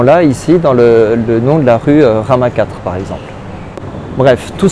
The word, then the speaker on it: Rama: vous respecter cette règle c'est pour ça que le dieu rama qu'on trouve en inde va plutôt se prononcer et ram en inde mais c'est aussi le cas en thaïlande et c'est pour ça